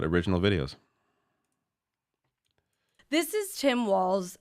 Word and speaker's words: Walz: videos this is Tim Walls I just found out that it's walls and not Waltz so I have been